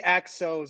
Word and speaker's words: Axos: It's actually Axos. It's a long O.